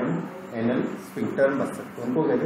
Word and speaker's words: sphincter: और सिग्नल जैसे ही ब्रेन का मिलेगा तो वहाँ की हमारी एनस की जो स्फिंक्टर मसल्स होती है जो कि हमारे वॉलेंट्री कंट्रोल